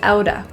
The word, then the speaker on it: out of: Out of often is pronounced as outa, out of my hands.